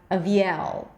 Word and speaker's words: Aviel: So the first syllable is just going to be a schwa. The second syllable, a high E, avi. And then the primary stress, the longest syllable, is at the end, L with a dark L.